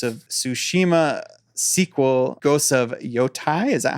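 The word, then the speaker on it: Yōtei: is the Ghost of Tsushima sequel, Ghost of Yotai. Is that how you say it? Yotai.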